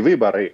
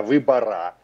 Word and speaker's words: выборы: Говорили не выборы, а выбора.